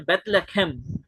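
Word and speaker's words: בית לחם: रोटी का घर और उसे प्रोनाउंस कैसे किया जाता है हिब्रू में बेथ लखम बेथ लेख बेथ और लेख लखम का मतलब होता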